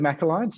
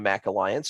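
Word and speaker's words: MACH Alliance: and feel on the Mac Alliance I think that or the mock Alliance I think is how they pronounce it but I'll let you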